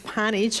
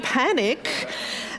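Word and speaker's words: Panić: um our dear moderator pronounced my surn name properly which is panish. I was born in in Serbia in Belgrade but in English uh this actually looks like panic.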